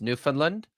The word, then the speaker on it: Newfoundland: Did you know that there's this place here in Canada called Newfoundland, and it's pronounced Newfoundland, but it's spelled Newfoundland.